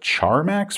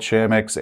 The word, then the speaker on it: Chamax: up because I like to call it Char Max for some reason even though there's no R but I started calling it charmax before I realized it was called shamix and now I just